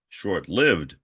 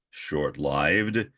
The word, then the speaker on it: short-lived: And yes, that is the correct pronunciation, as I once pointed out to a student who corrected me and said, no, it's short-lived. I said, no, it is short-lived and long-lived, but that's off the subject.